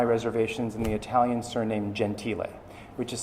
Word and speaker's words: Gentile: in the italian surname gentile which is spelled g-e-n-t-i-l-e but i look at that and i just say gentile because i speak italian and i know the correct pronunciation one of the restaurants